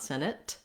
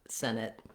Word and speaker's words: Senate: the first syllable Senate you'll also notice that if I say Senate by itself I don't release that T I use what's called a stopped te so not Senate but Senate no air released there